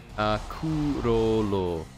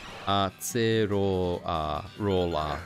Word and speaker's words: Acerola: Acerola. Yeah. Acerola. Yeah. I think it's just seeing A-C-E, my brain automatically thinks ace, you know? And I think with it being a C sound, not a K sound, I sometimes want to